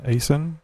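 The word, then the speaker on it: Aisin: Okay, I looked up something here on the Asen Warner. What did you call me? Yeah, exactly. Actually, it was a question. AW4 transmission. How do you pronounce that? A-I-S-N, Asen?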